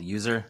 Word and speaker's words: US3R: Christian uh I'm an electronic rock artist called user that's us3r I'm located in Seattle Washington and uh I'm a tech dork during the day and a musician at night so it is pronounced user I was guessing when I first saw you